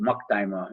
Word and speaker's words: Maktima: So Maktima is the pronunciation for it.